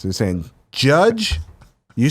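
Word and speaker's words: Jydge: all right number four judge but Judge is spelled j y d GE build your dystopian police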